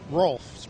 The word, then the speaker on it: Rolf: And what was your first name? Rolf. Rhymes with golf.